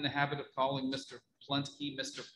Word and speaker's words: Pluntke: Pluntke Mr. Plunkett, but his name is P-U-L-N-T-K-E. So it's not Plunkett, it's Pluntke. Is it?